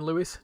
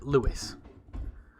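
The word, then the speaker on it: Lewes: It's pronounced that the name Lewis. Take this from a Sussex local. Okay, there you go. Lewis.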